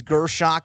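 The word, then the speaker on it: Görschach: My band is Gershach. That is spelled G with an umlaut, RSCHACH.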